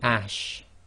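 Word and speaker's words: ش: It's simply ash, as in the English word ashes.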